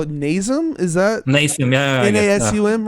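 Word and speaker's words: Nasum: uh i we i think we call it nazem is that nice n-a-s-u-m right yeah okay okay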